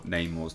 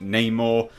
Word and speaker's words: Namor: this anyway you know we have now a Latin pronunciation for Neymar's name and obviously I'm saying name or uh it's in here Namor Namor um which is you know